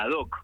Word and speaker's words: Ad Hoc: Se pronuncia ad hoc, como algo hecho ad hoc, a medida. Así que de esa manera se pronuncia. Cosa del marketing.